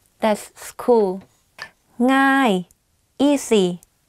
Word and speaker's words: ง่าย: ย น that's school ง่ า ย easy ง่ า ย meaning easy like thinking of singing the ng sound you use that sound in front of the word ง่ า ย ง่ า ย Is it easy?